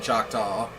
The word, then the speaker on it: Choctaw: My grandmother speaks it really well because sometimes they'll have conversations in the full-blown Choctaw language, which that's how you really pronounce Choctaw, but you know, such as it is.